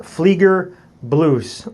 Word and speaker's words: Fliegerbluse: So next, moving on, we move to the German, what is called the Fliegerbluse, pronounced Fliegerbluse, or the German dress jacket, or in the American layman's terms would probably be considered like the U.S.